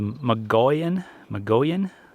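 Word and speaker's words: Mogollon: So yeah, the Magoyan is how they pronounced it.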